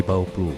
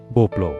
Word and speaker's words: Bouwploeg: Masalahnya bauh bukan kata yang mudah diucapkan lidah Betawi. Pengucapan Belandanya pun cukup rumit. Lama-kelamaan kata bapluh berubah bunyi menjadi Boblo dan nama itu akhirnya melekat. Anjir orang ngakunya orang Boblo Bauplo bukan Boblo bahkan jauh lebih terkenal daripada nama aslinya.